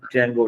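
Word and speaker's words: Django: मैं यहां बनाता हूं जगो डी जे एन जी ओ डी जेंगो में डी जो है वो साइलेंट वर्ड है तो ये क्या है जेंगो तो यहां पर मैंने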